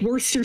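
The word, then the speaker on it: Worcester: liar they have a town spelled like worsters Shire and it's called Worster it's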